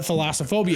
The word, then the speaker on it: thalassophobia: But yeah, when you said thalassophobia. No, you're still not even saying it right. It's Thalassophobia.